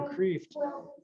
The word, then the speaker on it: Kreeft: And you know, I was so glad that Peter Kreeft, if I'm pronouncing his name right.